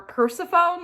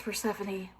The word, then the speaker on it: Persephone: I always, for years, have called her Persephone, like in my head, because that's how to me it like is spelled. I know it's Persephone, and I know that